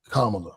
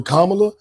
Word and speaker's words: Kamala: just because and let's let's say her name correctly kamla kamla sorry sorry racist people I know you're not Jackie and fake W people call her Kamala as a way to